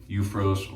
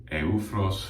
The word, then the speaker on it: Eufros: And I'm working on finishing this tub of Eufros, or Eufros for the more authentic pronunciation, their tub of Haitian Vetiver soap.